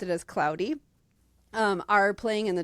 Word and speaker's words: Claude: if I'm remembering correctly, his name is pronounced Cloudy, but it's spelled like Claude. Okay. Um but, uh they pronounced it as Cloudy.